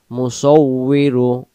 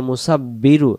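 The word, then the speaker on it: مُصَوِّر: মুসাব্বি বললে উচ্চারণ বলবে মুসাবিরু হু আল্লাহুল খালিকুল বারিউল মুসাবিরু মুসাবিরু মুসাবিরু মুসাউ অনেকে আমরা যদি বলি মুসাব্বিরু তখন এখানে বা উচ্চারণ এখানে তো বা নাই উচ্চারণটা বানান করে ফেলি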